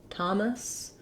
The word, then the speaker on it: Thomas: something to note and in thomas note that we have we can spell that with letter t in thomas it's often spelled with letter t h as well but it still makes the t sound that sound thank you